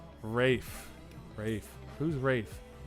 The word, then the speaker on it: Ralph: 11 points for taco 10 for Ryan it's pronounced Rafe Rafe Rafe whose rates Ralph Oh Ralph Fiennes whatever yeah I call him